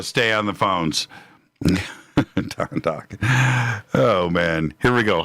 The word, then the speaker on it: Dokken: Don Dokken rhymes with rockin'.